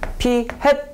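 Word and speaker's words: p̂: P 햇 이렇게 하시면 됩니다. 아시겠죠? P 햇이라고 읽어요. 이게 뭐처럼 생겼어요? 모자처럼 생겼죠. 그래서 햇이라고 있습니다. 알았죠?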